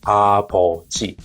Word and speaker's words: 아버지: When it comes to middle of the word, like 아버지, what do you hear? It should be closer to B. It becomes more voiced like B in baby.